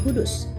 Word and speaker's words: Kudus: Dari Baitul Maqdis kemudian muncul nama Al-Quds yang pengucapannya menjadi Kudus.